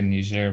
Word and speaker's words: Niger: it leisure or nigerian it's just like the way frank is french colonized so they say nigeria but in in english it's just niger leisure i want to